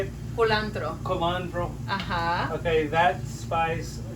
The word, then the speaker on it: culantro: the spice, the coriander spice, how do you pronounce it? How do you say it? Culantro.